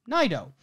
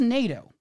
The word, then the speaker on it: Naido: the way I would imagine uh Japanese pronunciation would be naido he says NATO and I'm looking at